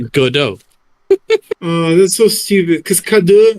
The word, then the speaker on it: Godot: it's it's pronounced as go do it no it's not yes it is it is a French gaming company that is therefore pronounced Godot oh that's so stupid